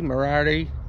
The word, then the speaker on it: Moriarty: Moriarty.